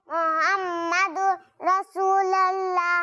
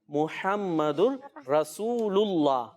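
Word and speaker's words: محمد رسول الله: वैसे इसको दुरुस्त पता है कैसे पढ़ेंगे? ला इलाहा इल्लल्लाहु मुहम्मदुर रसूलुल्लाह। क्या है? रसूलुल्लाह।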